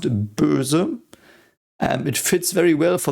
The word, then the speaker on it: Böse: So this is pronounced Böse.